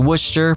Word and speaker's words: Worcester: there since 1912 it's then all West to wer pronounced Worcester you know it's great they included the